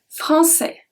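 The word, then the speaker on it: français: of the time so we pronounce everything francais we don't pronounce the s at the end so here the cyanide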